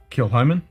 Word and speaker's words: Kilchoman: Kilchoman?